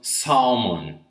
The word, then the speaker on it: salmon: So it's pronounced salmon, okay?